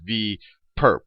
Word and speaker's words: V perp: superscript on V and you can pronounce this is V perp not for a purpose for a perpetrator but or perpendicular so V perp V perp